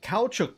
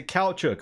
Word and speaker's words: caoutchouc: farm layouts right here this is for the cow Chuck Plantation and that is how you pronounce that if you weren't familiar with that word it is a cow Chuck or rubber it's it's just rubber that's all